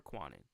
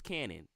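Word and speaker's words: Kwannon: swore was is it Canon or quanan w it's a silent W it's a silent W so it's Canon oh my God okay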